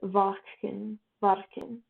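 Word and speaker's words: Watschen: was given what was known as the watchdoom pronounced vachen varken in the corridor the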